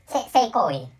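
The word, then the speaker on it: 聖行為: of Japanese language, so sexual act is seikoi in the pronunciation of Japanese language, and holy act is also pronounced seikoi. And so sex and holy has the same pronunciation.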